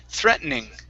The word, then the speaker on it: threatening: threatening threatening okay now the way that i actually say this word okay is threaten threatening okay so i swallow the t this it's a this is an american pronunciation not very many british say it okay it's threatened threatening